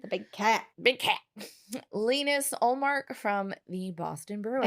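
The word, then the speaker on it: Linus: big cat big cat lenus olark from the Boston Bruins I always want to say lonus because that's how you say it in America I know so for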